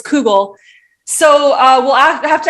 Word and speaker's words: kugel: probably pronouncing this wrong kugel not kegel not kegel everyone not kegel it's google so uh we'll have